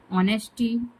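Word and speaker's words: honesty: ऑनेस्टी इसमें जो है हम लोग एस साइलेंट कर देते हैं।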